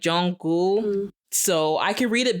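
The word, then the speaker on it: Jungkook: pronounce his name because when I read it in English I say Jung cook I do especially if I'm speaking fast I know you're not supposed to say it like that it's like Jung gou so I could read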